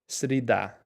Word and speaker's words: Среда: Srida.